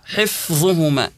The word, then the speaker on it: حفظهما: حفظهما طيب يا حامد انت عارف انه حرف الفاء حرف رخ و ضعيف لا بد تضغط عليه قليلا حتى يبان معك في النطق حفظهما افضل ولا يؤوده حفظهم